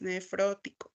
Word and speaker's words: nefrótico: que nos hace recordar que es nefrótico con acento en la o y luego albúmina la